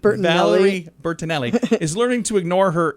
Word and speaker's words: Valerie Bertinelli: with his ears i have no idea uh valerie burton allery is learning to i think i said her name wrong valerie bertinelli is learning to ignore her inner critic her